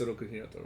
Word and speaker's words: Oroku Hiroto: They show Oroku, it's Oroku Hiroto, right? Am I pronouncing?